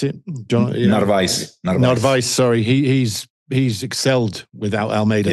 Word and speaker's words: Narvaez: But Novaris, is that how you pronounce it? Narvaez, sorry.